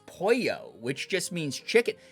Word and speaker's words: pollo: They were pronouncing pollo, which is the Spanish word for chicken, as polo.